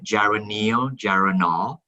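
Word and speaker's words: geranylgeraniol: it's actually two molecules of uh gyranol together gyroneogeranol and while we're at it i might as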